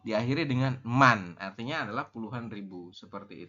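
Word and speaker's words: 만: Jadi Anda jangan terkecoh bahwasanya yang Anda potong tadi itu dibacanya adalah man.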